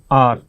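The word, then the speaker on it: hour: और यहां पर आवर, इसको हार नहीं पढ़ने, आवर आवर, ठीक है, एच साइलेंट रहता है लगभग, इसलिए।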